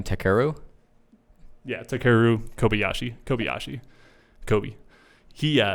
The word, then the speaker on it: Takeru: And so he, Takeru Kobayashi, man, Kobe. That's what they call him, Kobe. How do you say his first name? Takeru?